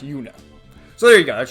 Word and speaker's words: Juna: It's spelled Juna, but I think it's pronounced Una.